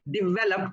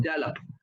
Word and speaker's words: develop: So you say develop but not develop, because then it almost sounds like dollop.